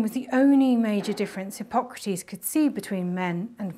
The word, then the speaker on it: Hippocrates: fatigue was i oh hippocrates there are different pronunciations hippo crates if you're an american and wrong hypogradies in a questionable greek accent but for today we'll stick with hippocrates because the womb was